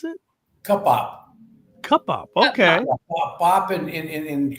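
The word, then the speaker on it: Cupbop: How do you pronounce it? cup up.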